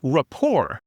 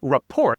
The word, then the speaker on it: rapport: So instead of rapport, it's spelled R-A-P-P-O-R-T. It looks like rapport, but we don't pronounce the ending.